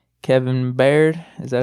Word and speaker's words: Byard: Kevin Baird. Is that how you pronounce his Byard. name? Byard.